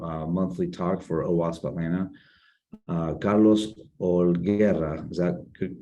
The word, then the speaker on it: Holguera: Carlos Holguera, is that good pronunciation, Carlos?